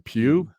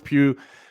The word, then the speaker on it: Pugh: had florence and justin i've been struggling with how you pronounce her last name pew pew so florence pugh showed up as uh